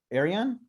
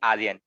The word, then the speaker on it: Aryan: Arian? Yeah. How do I pronounce that? Did I do it right or no? No. It's actually Aryan.